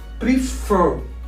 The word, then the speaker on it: prefer: Also, prefer. The stress is on the last syllable.